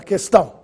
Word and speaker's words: questão: Que, sem trema, quente, questão, quesito. Você notou se eu pronunciei a letra U? Não.